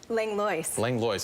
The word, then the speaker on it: Langlois: We're continuing our discussion about credit this month, and here, Langlois? Langlois, okay. I just wanted to make sure it wasn't like a wild French pronunciation or something.